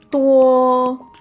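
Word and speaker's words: 多: Tuo. Nah, ini ucapannya diucapkan itu seperti tuo tanpa hembusan nafas. Tuo seperti huruf T.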